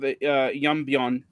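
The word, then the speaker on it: 연변: But today, like you have Yeonbyeon, that's how it's pronounced in Korean.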